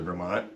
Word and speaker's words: Vermont: It's a 1982 Seafarer 26, list price of $6,900, located in Colchester, Vermont. Is that pronouncing that?